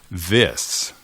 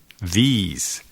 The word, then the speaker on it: this: Pero para algunos hispanohablantes hay una tendencia a pronunciar la I como un I española. These. Pero eso puede resultar confuso para el oído ingleso. Si escuchas demasiado como otro adjetivo demostrativo, these, estos o estas, these.